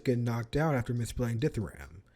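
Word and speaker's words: dithyramb: knocked out after misplaying ditharam forgetting that there's a silent b at the end there's a silent beat dumbass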